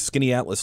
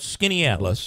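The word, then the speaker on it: Skaneateles: and uh what I brought in today is skinny Atlas light um so like the uh like the town called Skinny Atlas correct which is quite a little affluent it's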